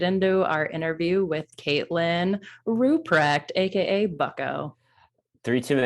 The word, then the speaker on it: Ruprecht: known as bucko now rupert ruprecht did that's it you're so close you're so close yeah i know it's like extremely hard to pronounce it's ruprecht very good wrecked wow